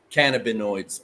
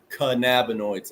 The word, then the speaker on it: cannabinoids: real trouble pronouncing cannabinoids I say cannaboids a lot but it's canab noids and I'm trying to